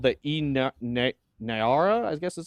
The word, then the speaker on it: Naira: Nigeria is going to be releasing its first CBDC here in just a couple days, called the Naira, I guess is how you would pronounce it, Naira.